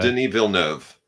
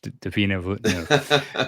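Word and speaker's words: Villeneuve: Did Oh, Denil Nov. Yeah, it's French. Deina. Um, his stuff is usually great.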